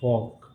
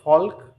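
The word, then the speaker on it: folk: For gentry, F फॉर फॉक। इसको आप फॉक पढ़ते हो, ना कि एल को आप पढ़ते हो, फॉल्क गलत होता है, इसे आपको क्या प्रोनाउंस करना है, फोक, ठीक है।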